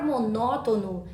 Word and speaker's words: monótono: por isso é acentuada a palavra monótono é proparoxítona percebam que a antepenúltima sílaba que é acentuada nesse caso temos uma